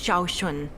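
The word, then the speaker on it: Sean: are you all right Miss shun my name is Shaun this is the proper way to address someone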